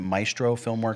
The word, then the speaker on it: Maestro Filmworks: You work with, is it Maestro Filmworks? Is that how you pronounce the name?